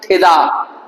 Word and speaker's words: ठिदा: नीचे चली जाती है ठ भारी है ट आधा है तो ट ऊपर चला गया और ठ नीचे आ गया है तो इसलिए क्या बोला ठिदा ठिदा हल्का सा ट का उच्चारण आएगा और क्या आएगा थी